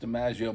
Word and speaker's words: Domingo: It's spelled Domingo. And, I meant the Crowley pronunciation. Yeah. He spells it. He spells it like that, but it's pronounced DiMaggio.